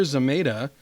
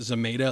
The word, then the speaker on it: Zamata: And so basically today they announced they have hired comedian Sashir Zamata. I think she pronounces it Zamata. It looks like Zamata.